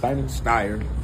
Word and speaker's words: Steyer: Steyer.